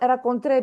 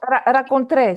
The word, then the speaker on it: rencontré: And the other one, rencontré, because you see here the accent. Yeah. Ils ont rencontré. So this shows that we need to pronounce it.